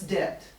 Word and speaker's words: debt: in debt to what's debt what's the word debt do you know that word debt yeah the b is silent d-e-b-t debt yeah and so a